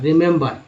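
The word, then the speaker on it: remember: एम बी ई आर, रिमेंबर। यहाँ 3 ई है, तीनों ई का अलग अलग उच्चारण है, आर के साथ ई के रूप में, एम के साथ ए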